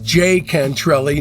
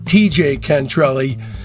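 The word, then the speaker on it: Tjay Cantrelli: Also, just a quick note, When I interviewed Johnny Echols, I realized that the proper way to pronounce his name was J. Cantrelli, not TJ Cantrelli.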